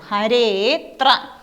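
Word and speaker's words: हरेऽत्र: ഹരേത്ര, ഹരേത്ര. അതിൻ്റെ ഉച്ചാരണം ആ ഇല്ലാതെ ഉച്ചരിക്കണം. ഹരേത്ര എന്നും പറയാം. ഇല്ലെങ്കിൽ ഇതിന് സൈലൻ്റ് ആയിട്ട് അത് ഉണ്ട് എന്ന് സൂചിപ്പിക്കുന്ന രീതിയിൽ ഹരേത്ര എന്നും പറയാം. ഹരേത്ര എന്നും പറയാം, ഹരേത്ര. മുഴുവനായിട്ട് ആ പറയാനും പാടില്ല, എന്നാൽ ആ പറയും കൂടി വേണം.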